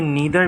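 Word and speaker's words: neither: ये नीदर भी है और नाइदर भी है, डिफरेंट प्रोनाउंसिएशन, इसकी 2 प्रोनाउंसिएशन हो सकती है, ठीक है।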